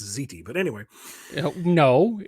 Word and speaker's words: ziti: Yeah, I'm gonna have some baked Zeddy. I think it's pronounced ziti, but anyway.